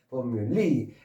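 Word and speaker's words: formulae: 어떤 방법 방식 방법일 때는 복수가 s를 붙이고 공식일 때 복수는 2를 붙여서 이때는 포뮬러스 하면 되는데 이거는 발음이 좀 어려워요. 포뮬리 엔터니 포뮬리 참고로 아르듯이라고 어 막간을 이용해서 정리를 해 드렸고요.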